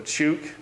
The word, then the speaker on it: Chuuk: I want to say he's going to go to Chuuk. This is how you pronounce it.